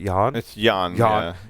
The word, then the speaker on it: Jan: back to gen g it's not jan you would pronounce that yawn yawn marcelec right was